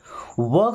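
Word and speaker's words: walk: वॉक slowly. यहां पे L silent है।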